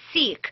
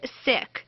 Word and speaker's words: Sikh: it's important to know we often hear the pronunciation Sikh but it's pronounced Sikh 70% of Americans that we've talked to do